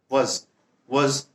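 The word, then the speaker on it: was: Past करता है वज और वर का इस्तेमाल करेंगे। वज या वाज नहीं होता है, वाज होता ही नहीं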